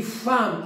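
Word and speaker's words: femme: g quand on dit femm avec e ça se prononce a quand on dit taxi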